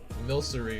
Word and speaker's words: Milcery: Like, I like saying milkery, like it's milk, but people say like milcery or something, and I don't like that. I like saying it's milk.